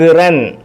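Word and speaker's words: شكراً: ളർബൻ മസ്ഹൻ ജഹലൻ ശുക് ശുക്റൻ ശുക്റൻ ഇതെല്ലാം പദങ്ങളുടെ എല്ലാം അവസാനം അലിഫ് ഉണ്ട് ഈ അലിഫിന് ഉച്ചാരണമില്ല അലിഫിനെ ആ ഇ ഉ എന്നൊന്നും വായിക്കത്തില്ല ശുക്റൻ ശുക്റൻ ഫത്ഹൻ ഫത്ഹൻ ഹൗഫൻ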